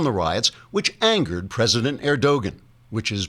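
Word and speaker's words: Erdoğan: president Reep erdogan pronounced erdogan because the g is silent as in angster until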